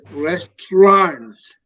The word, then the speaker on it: restaurant: difference there restaurants because remember English is not you don't pronounce everything the way is written so it's restaurants okay let's try it because the pronunciation is somewhat different because the origin of